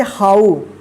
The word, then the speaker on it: how: ओ उच्चारण हुआ है, लेकिन यहाँ पे क्या है OW यहाँ पे है तो उसको आओ उच्चारण करेंगे, ठीक है, आओ, ठीक है। यहाँ पे देखिए HOW, इसको क्या पढ़ेंगे हाउ।